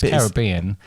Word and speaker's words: Caribbean: at it perhaps the caribbean no caribbean is the real uh annoying thing in it because it's caribbean but some other but it looks like carrot bean caribbean yeah but it's not is it why are